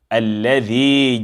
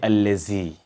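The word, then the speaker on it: الذي: So alladhi jama'a, alladhi. Do not say allazi. Do not say allazi. Remember to say alladhi, and know that there are two different letters.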